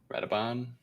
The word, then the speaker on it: Radoban: Rabadan, is it? What's it? How do you say his name? Radoban. Yeah, you're correct.